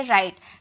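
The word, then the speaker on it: write: जाती है यानी कि डब्ल्यू आर आई टी ई इसे हम कहेंगे राइट प्रोनंसिएशन पे भी बेस्ड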